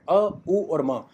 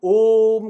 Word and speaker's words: ओम: कोई वर्ड नहीं है ओम एक ध्वनि है जिसमें तीन स्वर आते हैं अ उ और म तो जब हम ओम का उच्चारण करते हैं